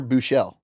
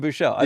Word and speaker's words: Buechele: Yeah, and And you're Buechele. yeah, I am Buechele.